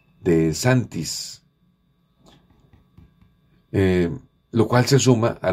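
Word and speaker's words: DeSantis: persona absolutamente radical denominado de Saints o de santis de santis más bien la pronunciación de santis lo cual se suma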